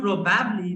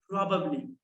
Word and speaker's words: probably: Let me tell you, this is not probably, this is probably. Probably. Repeat after me, probably.